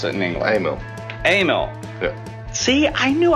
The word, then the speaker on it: Amal: Amal is it Amal AML how do you pronounce it in English Amil Amil yeah see I knew I was saying it right you guys in the comments don't know what you're talk about so Amil carburetor mono block yeah never never assembled one